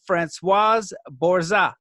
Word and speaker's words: Françoise Bourzat: Welcome to the show, FRANÇOISE BOURZA. Thank you. Thank you. How did I do with the pronunciation?